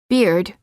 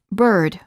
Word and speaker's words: bird: R the sound remains non-native speakers are frequently tempted to pronounce the vowels as they're spelled and they make the common mistake of saying work instead of work or torn instead of turn and sometimes even beard instead of bird words for practice you